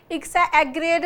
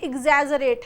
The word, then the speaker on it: exaggerate: इसको बहुत सारे बच्चे एग्रेड बोलते हैं, ये सही नहीं है, ये एग्जैजरेट है। इसका सही प्रोनाउंसिएशन क्या है, एग्जैजरेट।